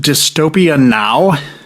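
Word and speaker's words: Dystopia Nå: It's pronounced Dystopia now.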